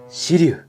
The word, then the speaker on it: 紫龍: シリュウ、試作、初号機。来ました。紫の竜と書いてシリュウ。